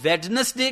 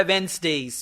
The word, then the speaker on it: Wednesdays: अब देखें जो लोग वेडनेसडे कहते हैं, अपनी प्रोनाउंसिएशन आप ठीक कर सकते हैं, उसने बोला वेंसडेज, वेंसडेज, ओके।